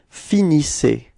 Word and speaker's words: finissez: So you can see that the ending, the last two letters, so Z are pronounced like E. Okay. IC. All right. And you get the form vous finissez.